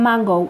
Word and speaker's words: mango: cuando se escribe igual mango pero se pronuncian mangou acuérdate como si hablaras cómo gringuito mangou después tenemos mahón que